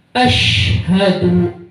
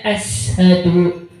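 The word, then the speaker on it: أشهد: Contoh shin sama sin. Asyhadu, panjenengan bacanya ashadu.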